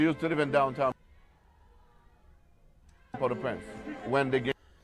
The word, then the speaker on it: Port-au-Prince: Yeah, she used to live in downtown Port-au-Prince. When they get Oh, Port-au-Prince, that's the pronunciation, Port-au-Prince.